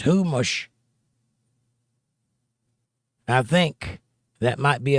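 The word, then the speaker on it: Chumash: And Sue Wood says, "Uh, humish is pronounced humush."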